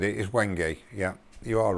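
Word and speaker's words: wenge: you mean Rob CP people argue on how to pronounce when I was when gay is it when gay it's when gay I'll write as it's an African would and that is how they say it but others say how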